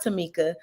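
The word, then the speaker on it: Tomeka: on the screen and my mom did name me and spelled my name a little different but it is pronounced Tamika so uh t-o-m-e-k-a and if you're going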